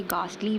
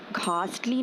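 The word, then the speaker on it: ghastly: इसकी प्रोनाउंसिएशन ऐसे ही होती है, इसे गास्टली पढ़ते हैं, घास्टली नहीं पढ़ते, गास्टली पढ़ते हैं इसको।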